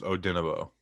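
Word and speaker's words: Odenigbo: spelled saying it right odin egbo it's oh dinovo so that was is the g silent yeah odenabo we'll see all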